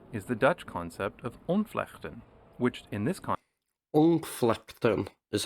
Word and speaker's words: ontvlechten: rather not seeing is the Dutch concept of unflechten which in this conceptum is how you pronounce it um interesting context means disentangling I'll